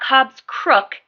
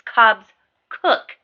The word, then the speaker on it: Cobbs Cook: It's not Cobbs Crook, it's Cobbs Cook Stitches.